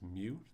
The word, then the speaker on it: mu: The population mean is meu pronounced just like the Pokemon and then the population standard deviation is sigma.